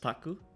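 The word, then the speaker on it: 宅: Wait, the kanji is of course pronounced taku.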